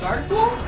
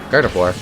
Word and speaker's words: Gardevoir: You can say it either way, I think. That was a Mandela effect moment for me. Why? Is that not how you say it? I was like, have I been wrong? Gardevoir. Yeah. I I thought it, like, you know the word boudoir?